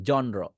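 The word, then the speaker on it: genre: হবে উচ্চারণ ঠিক করবেন এটাকে আমরা বলি জনর বা জেনরা বা অনেক কিছু অনেক কিছু বলি এটা ইংরেজি সাহিত্যের একটা ভাষা ইংরেজি সাহিত্যের শাখা এটাকে বলবেন জনরা জনরা জন র সাউন্ড এখনো করতে না পারেন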